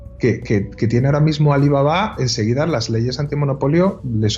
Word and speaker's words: Alibaba: otras empresas alibaba bueno Ellos dicen alibaba porque lo pronuncian ya no en vez de pronunciarlo con el acento al final como decimos nosotros alibaba pero pero gigantesca o